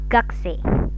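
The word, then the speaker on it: 学生: Gakuse bacanya, tulisannya gakuse. Kalau dilafalkan menjadi gakse, gakse. Jadi U-nya melebur.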